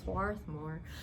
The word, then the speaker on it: Swarthmore: Is that how you say it? Swarthmore? Swarthmore? Right, Swarthmore.